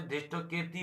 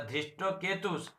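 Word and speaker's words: धृष्टकेतु: একটা হচ্ছে ধৃষ্ট কেতি হয়ে যাচ্ছে, ধৃষ্ট কেতি হবে কেন, সেখানে কেতু আছে, তাহলে ধৃষ্ট কেতুস, তারপরে চেকিতানং, এই উচ্চারণটা ভুল।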